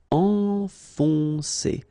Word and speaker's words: enfoncer: Enfoncer, okay, so it can be quite tricky at the beginning because if you look carefully, first you've got this nasal, en, and after that you've got another on. Enfoncer, enfoncer.